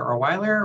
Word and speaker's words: Olewiler: prefer me address you as nancy or doctor orweller or professor he's just fine okay excellent and you pronounced my last name correctly too which oh